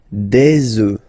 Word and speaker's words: œufs: Okay, and we'll make the liaison here to make it sound more beautiful. Des œufs, alright, un œuf, des œufs.